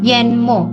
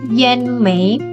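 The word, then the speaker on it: 淹没: Cuma kalau digandengkan dengan yen, ini huruf yen, yenmo bacanya, bukan yen mei, bukan, tapi yenmo, menenggelamkan.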